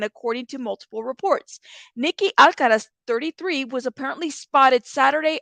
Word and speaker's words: Alcaraz: Now, a lot of people were saying her last name was Alcatraz. It's Alcaraz. It's a different pronunciation. There's no T.